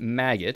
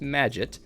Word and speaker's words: Magit: the the magic package as you notice i'm pronouncing it correctly now the magit package not maggot it's magic as people have told me repeatedly uh we are going